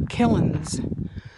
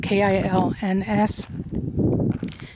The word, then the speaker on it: kilns: at the wild rose charcoal killins kills i don't even know how to pronounce that k-i-l-n-s kilns and right at the